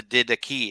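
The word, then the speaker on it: Didache: did decay and or the did the key if we were gonna pronounce it like a modern greek um i did say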